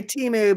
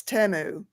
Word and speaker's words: Temu: say it temu yeah I used to say Teemu but when I saw the commercials for it it's temu oh see I called it teu yeah I did to temu teu what is it